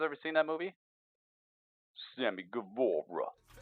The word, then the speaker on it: Guevara: Sammy Guevara. Yeah, you got to say it like that. Sammy Guevara.